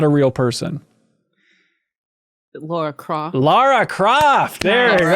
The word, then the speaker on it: Lara: was 5, someone told me it was Laura, so I haven't changed the pronunciation since.